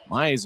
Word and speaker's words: Mayer: Maillet's last name looks like Mayer, M-A-Y-E-R, but the pronunciation guide says Maillet.